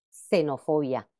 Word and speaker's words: xenofobia: ambas en ambos casos en posición inicial de palabra también representa el fonema s eh Como por ejemplo xilófono xenofobia otro caso similar sucede